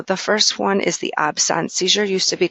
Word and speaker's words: absence: we do pronounce it absence which is the French word for absence and what's great about